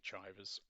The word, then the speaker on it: Chivers: It could be pronounced Chivers, I'm going to say Chivers, from Manchester during the first 2 years of the Second World War.